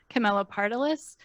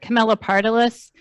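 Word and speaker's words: Camelopardalis: to sketch so and it's not actually unpronounceable it's pronounced pretty much how it looks Camila partalis um but I think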